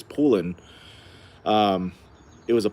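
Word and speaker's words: Poulan: I think it's I think the right way to say it is pulin. Um it was a pollin sort.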